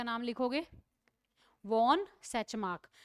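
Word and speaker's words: Tschermak: का नाम लिखोगे वॉन सैच मार्क अब सैच मार्क की स्पेलिंग एस से नहीं है टी से है तो सबसे पहले तुम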